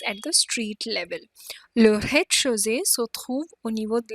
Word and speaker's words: rez-de-chaussée: Rez-de-chaussée. The Z is not pronounced. Rez-de-chaussée.